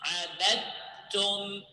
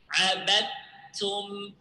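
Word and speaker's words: عبدتم: Notice here, I didn't pronounce the dal. Okay, I didn't pronounce the dal because the dal here entered in the ta letter, in the letter that came next the dal. Okay, which is the ta.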